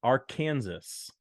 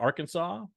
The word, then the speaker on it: Arkansas: All right, number 23, Cincinnati at number 19, Arkansas. Some people pronounce it Arkansas. I pronounce it Arkansas.